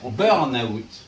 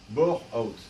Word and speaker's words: burnout: Alors surtout on prononce on prononce on prononce burnout et non pas born out et non pas burnout.